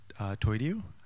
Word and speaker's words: toidiu: My handle on the internet is Toidu. That's how it's pronounced.